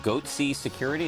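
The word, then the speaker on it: Goatse Security: They're called Goatsy Security. Is that my pronouncing that correctly? Yeah, that's right.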